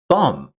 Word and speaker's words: thumb: English has many words with silent letters like the K in knock or the B in thumb.